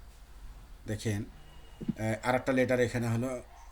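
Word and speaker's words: ح: গোলাম রব্বানি ভাইয়া দেখেন, আর একটা লেটার এখানে হলো হা। হা লেটারের উচ্চারণ স্থানটা ছিল হলো হালকের অথবা কণ্ঠনালীর শুরু থেকে।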